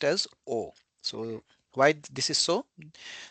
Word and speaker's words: を: So you know this alphabet this character in hiragana this is actually VO but it is pronounced as O.